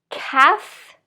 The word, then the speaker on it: calf: but ending with f calf half so unlike these words where we have ah here we're going to have a as in cat calf so calf is